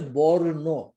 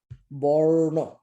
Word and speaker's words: বর্ণ: যেমন নয়ের উপরে রেফটা আসছে কিন্তু উচ্চারিত হচ্ছে বর্ণ। সো ওয়ের ইজ দ্য R sound? The R sound is before the ন, বর্ণ।